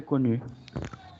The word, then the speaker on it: connu: Solamente pronúncialo como la I. Coni. Connus. ¿Listo? Coni. Pero cuando vaya a decir la I, Abra los labios, redondéelos. Connu.